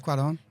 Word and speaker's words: Cuarón: Carlos Cuarón, who wrote Y Tu Mama También.